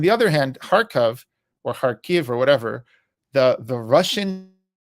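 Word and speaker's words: Kharkiv: was a resistance in harkov okay now it's pronounced harv because it is Ukrainian uh but there's a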